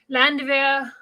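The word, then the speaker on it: Landwehr: was pulled from the landvir canal in berlin um and that i know i pronounced it right because the w makes a v sound always so landy vera can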